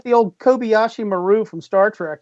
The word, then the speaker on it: Kobayashi Maru: Kobayashi Maku? Kobayashi Maku? Maru. M-A-R-U. M-A-R-U. I got to find out about that. Yeah. Kobayashi Maru.